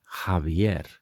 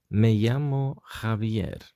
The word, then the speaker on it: Javier: peculiar very specific name in spanish would be javier javier javier so you can see this h is pronounced a bit like with a bit of